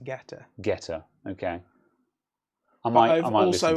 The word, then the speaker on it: Guetta: Is it Guetta? Guetta? I believe it's just Getter.